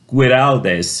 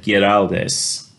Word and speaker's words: Güiraldes: And the last name Güiraldes, over the U it has a double dot, kind of like what they say, the German umlaut, to let us know that it's pronounced Güiraldes instead of Güiraldes.